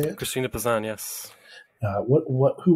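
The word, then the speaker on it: Christine de Pizan: deep assange is that how you say it christina pisan yes uh what what who was she and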